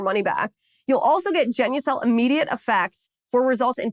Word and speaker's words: Genucel: Now, Marina is flying high with Genucel's new Ultra Retinol Serum with hyaluronic acid.